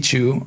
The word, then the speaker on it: Chu: My first name is incredibly difficult to pronounce unless you speak Mandarin, so I go by Chu as in Chewbacca or Pikachu.